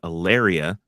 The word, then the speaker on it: Aleria: season two of Halo entitled aaria which is which rhymes with malaria yes that's not going